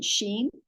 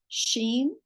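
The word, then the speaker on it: שִׁין: So with the dot on the right, it's pronounced sh, as in sheen.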